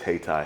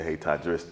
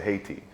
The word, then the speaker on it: Hayti: black people that still never heard of Hayti or pronounce it Haiti.